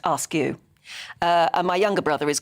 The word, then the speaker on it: Askew: Sean says, our surname is Askew, pronounced Askew.